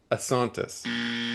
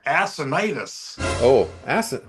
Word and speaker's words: Assonitis: They were produced by a guy by one Ovidio Gabriel Assontis. Now, Jeffrey. Santis. Assontis, or is it Assantis? I wrote Assontis. Assonitis. Oh my God, I got it completely wrong.